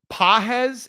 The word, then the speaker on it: Pages: You mean pagay? Um, pahes. It's p a ge pronounced pahes.